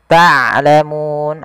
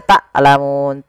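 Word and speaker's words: تعلمون: Ta'lamun ain hati-hati jangan dibaca taklamun.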